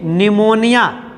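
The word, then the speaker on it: pneumonia: AP Cipla रोपी से निमोनिया P silent हो जाता है पढ़ते समय निमोनिया लेते हैं तो यह इसे लाइक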